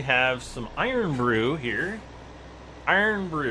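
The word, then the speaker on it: Irn-Bru: some iron Brew here iron Brew it's spelled irn BR Ru it is a I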